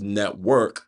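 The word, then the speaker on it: NTWRK: then on top of that check out the network podcast which is pronounced network but it's spelled n t w wrk you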